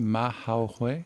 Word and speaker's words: Mahay: How do you say the first name? Mahay. Yep. Very well.